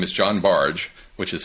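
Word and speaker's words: Bargh: a Yale psychology Professor whose name is John barge which is spelled v-a-r-g-h but it's pronounced barge he had done some some studies that had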